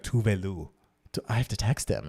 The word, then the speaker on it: Tove Lo: called her fucking That's Tovlo. how Americans say her name, but I think it's like Tuvelu.